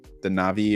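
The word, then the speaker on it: Na'vi: They filmed for the characters, the Navi people, or however you pronounce that. Yeah, it is Navi.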